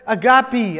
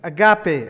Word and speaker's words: agape: That word agape, I'm saying it in the Greek, you know, the Greek word, not just because I'm Hispanic and I have an accent, but it actually does, it's pronounced E, agape.